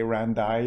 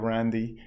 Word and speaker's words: Randy: it says that okay they were going to say randay instead of randy then i'll say my name again just to reconfirm what my name is so they understand exactly that okay this is his name yes he didn't say randa he said randy and that now that